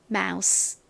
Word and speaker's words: mouse: M은 미음 소리 나고요. OU는 아우. 그리고 또 S 나왔네요. 스 소리 나죠. E는 역시 이렇게 가장 끝에 오면 헛개비 뭐 소리가 나지 않죠. 그래서 발음해볼까요? mouse, mouse, mouse.